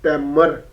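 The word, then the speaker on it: Tamer: as we can okay t a m e r temmer b e c h e double r a w y battery okay hopefully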